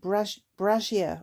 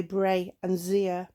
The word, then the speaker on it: brazier: I think Rachel said brazier or something, brazier, with the j sound in it, whereas I would say bray and zier. Is definitely not a brazier, that's something different.